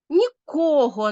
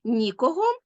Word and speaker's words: нікого: той самий займенник але наголос вирішує все наголос зміню є 3 значення слова Та ні не все а лише відтінок і ми повинні правильно наголошувати такі слова нікого і нікого нічого і нічого а ще ви повинні